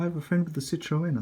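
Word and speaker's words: Citroën: above the citro Citroen it's actually pronounced Citroen so got to start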